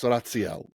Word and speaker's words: Raziel: I know of him as Raciel. Right. I think is how you say it. I believe his name is Raziel. I believe that's the correct pronunciation. I don't roll my R as well, but that's it.